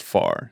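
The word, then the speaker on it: Pharr: For our friends listening at home, there is a town in South Texas called Far, spelled with a PH.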